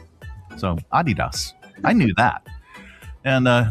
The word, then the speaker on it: Adidas: Yeah, it's supposed to be Adidas. uh with a slight emphasis on the first syllable, not Adidas stressing the second. So, Adidas, I knew that.